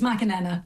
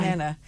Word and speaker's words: McAnena: It's McAnena, but that's fine. McAnena. A bit like Macarena.